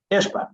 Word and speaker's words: Ishbia: I don't even know how to pronounce it. Ishbia? Ishbia. There we go.